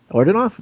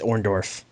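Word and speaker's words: Orndorff: Orton off and Piper Warden off is that how you say it it's orendorf I was just gonna let you keep rolling with that though orendorf I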